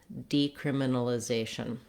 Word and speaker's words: decriminalization: just the word criminalization, we have the stress on the second to last syllable, zay. That means that syllable will have a clear vowel and will be held longer. It's often helpful to start with a stressed syllable and build backwards from there. If you were trying that with this word, it would sound like zation, criminalization, decriminalization.